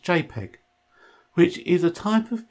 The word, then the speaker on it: JPG: the type of file is a jpg that's pronounced jpg which is a type of picture and is